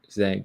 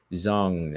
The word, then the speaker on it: Zhang: it the right way it's just like with wayy Zang people say Zang I'm trying to say zong now like zong way Le you know they say